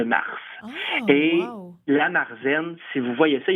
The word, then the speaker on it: Märzen: Marzen, Ouais. ça s'écrit M-A-R-Z-E-N.